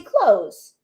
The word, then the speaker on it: clothes: morning there's a difference they sound the same though don't they because typically we don't say clothes the zoo we don't say that we say clothes right you don't hear the th many times so I